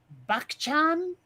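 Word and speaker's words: Bachchan: is this seriously okay how would you pronounce something b-a-c-h-c-h-a-n yes bak-chan that's the closest i could come and the first name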